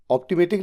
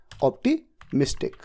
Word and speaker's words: optimistic: एंड ऑप्टिमेटिक नहीं, ये तो खैर प्रोनाउंस ही गलत कर दिया, ऑप्टिमिस्टिक, ये तो बताया भी गया था आपको होमवर्क देते वक्त।